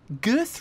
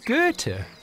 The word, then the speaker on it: Goethe: around it literally apparently gurth wrote one of his poems right here Duncan it's pronounced Goethe yeah professor Tracy brings